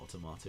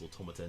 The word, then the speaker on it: Automata: It's not Automata, it's Automata.